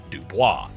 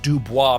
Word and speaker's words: Dubois: They flat out refused the French Dubois pronunciation and went with Dubo because of course it rhymes with cowboys.